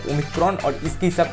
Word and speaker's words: Omicron: इसके बाद आती है 15वीं लेटर जिसका प्रोनाउंसिएशन होता है ओमिक्रॉन और इसके हिसाब से इस वेरिएंट का नामकरण किया गया।